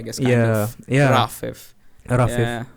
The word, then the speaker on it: Rafif: So it's supposed to be pronounced A, like, you know, alpha, not Rafif.